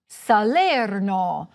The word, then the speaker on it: Salerno: In Italian the stress most often falls on the penultimate, or second-to-last, syllable: firENze. saLERno. toRIno. orvIEto.